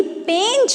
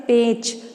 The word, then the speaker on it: पेंच: देखिए जब आप इसका उच्चारण कर रहे हैं पेच, पेच, अगर ये जो बिंदी नहीं लगी होती तो हम इसे क्या पढ़ते, पेच, पेंच।